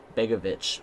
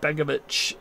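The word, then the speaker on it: Begović: goalie goalie it's the bosnia herzegovina dude yeah begovic begovic that's how you say his name so it's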